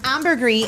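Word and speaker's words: ambergris: It's pronounced amberree.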